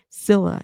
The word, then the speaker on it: Scylla: Oh, I guess it's like, okay, I'm saying it wrong. Scylla. It's supposed to be like Priscilla's last four letters.